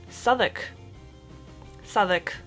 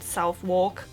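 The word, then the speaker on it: Southwark: wrong for the longest time but this is pronounced souk sou not southwalk just sou it's on the Jubilee line that's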